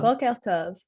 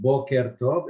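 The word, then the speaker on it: בוקר טוב: Boker tov. Okay. Actually, it is not boker tov, it is boker tov. It's a quf.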